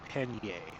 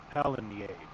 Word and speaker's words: Pallegney: And he pronounces this map Pallegney. So now that I have the correct name, I'm going to start saying Pallegney.